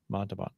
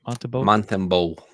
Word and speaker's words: Montembeault: So and the actual roster, the actual goalies were Binnington, Hill, and Montalban. How do you say that? Montembeault.